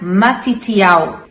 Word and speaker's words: Matitiau: O nome Mateus vem do hebraico e ele se pronuncia Matitiau.